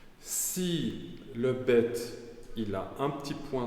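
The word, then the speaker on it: בית: lettre là bête elle elle se dit bête bête ou B ça veut dire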